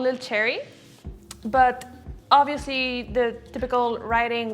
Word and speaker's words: LilCherrih: French and francophone the age this is not pronounced so it's like it's just little cherry but people are like no there's an ancient